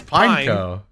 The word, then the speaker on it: Pineco: Nah, it's not Pine... Because P-I-N-E... It's Pineco. It's not like it's P-I-N-E-N-E-C-O. Pine. Neko.